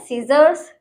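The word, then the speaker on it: scissors: ठीक है, दूसरा है सीजर्स। ठीक है, क्योंकि इसमें एस के बाद सी आ रहा है तो इसमें हम सी को नहीं पढ़ेंगे।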